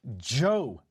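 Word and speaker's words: Djo: The name of the band though, DJ O is Joe. The D is silent.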